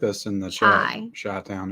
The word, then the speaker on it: Chi-Town: Chi-Town, if you're Chai, not shy. I think it's pronounced Shy.